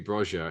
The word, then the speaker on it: Broja: I've got to rethink how I pronounce his surname now, because it could be Broja actually.